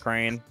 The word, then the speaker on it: crayon: Crayon. One crayon, syllable.